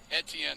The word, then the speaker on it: Etienne: oh my Oklahoma State's left tackle Caleb is ATN is that how you say it Etienne yeah started 13 games from last year's enter